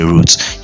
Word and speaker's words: routes: they can also show routes to different um stores near the customer or is that pronounced as roots yeah you say roots yeah it's pronounced as roots so it shows roots